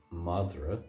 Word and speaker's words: madra: for dog is m madra and again madra now I speak the monster dialect of Irish we're saying madra there's what's called an epenthetic vowel in there where m a d